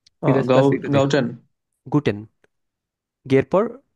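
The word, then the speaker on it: Guten: গুটেন, গের পর ও আছে, গো, গো, ঠে, এ, এন, গুটেন।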